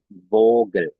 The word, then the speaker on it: Vogel: Nah, ini dibacanya vogel ya.